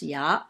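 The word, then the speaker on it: 牙: That's pronounced ya.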